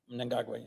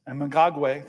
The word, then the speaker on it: Mnangagwa: And you always correct me on my pronunciation, so I'm going to try my best. Mnangagwa. Mnangagwa, yes. Mnangagwa, thank you, sir.